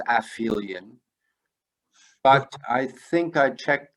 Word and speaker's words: aphelion: Isn't it aphelion? Do you mean my pronunciation? Yeah. I believe, again, I'm only imperfectly recalling. I would have thought it was aphelion, but I think I checked the pronunciation and it was aphelion.